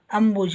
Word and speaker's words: ಅಂಬುಜ: Abhijit ಬಿಹಚ್ ಐ ಹಾಗೆ ಅಂಬುಜ ಅನ್ನುವಾಗ ನೋಡಿ ಇಲ್ಲಿ ಇದು ಅಲ್ಪಪ್ರಾಣ ಇರುದರಿಂದ ಬರಿಬಿ ಅಷ್ಟೇ ಇದೆ ಹಚ್ ಇಲ್ಲ ಇಲ್ಲಿ